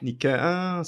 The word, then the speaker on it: Nike: Se eu não me engano, em grego é Nike. Nike, sim, já ouvi algumas Se eu não me engano, Nike.